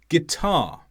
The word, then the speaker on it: guitar: there are lots of words where we don't pronounce the U after the G guilty guitar but not always for example Jaguar anguish in